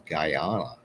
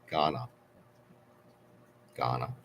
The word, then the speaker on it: Ghana: it wrong G Gahan I thought it was gyana G okay Roco is is much more travel